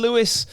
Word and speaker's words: Lewis: splashed the three and the Elaine Lewis um well actually I've been told um is pronounced elain Louie I know the whole